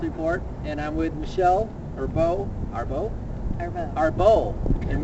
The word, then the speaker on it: Arbeau: Hey guys, it's Matthew David Hurtado with the Natural Health Report, and I'm with Michelle Arbeau, and we pronounce it right. No, it's French Canadian, so everybody gets it wrong.